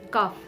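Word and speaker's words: cough: as the letter f examples cuff c o u g h instead of g8 uh g its sounds as f so we pronounce it as kaf l-a-u-d-h love e-n-o-u-g-h it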